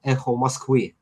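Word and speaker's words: Эхо Москвы: Uh, in Russian, it pronounces like Echo Moskvy, and there was a famous radio DJ.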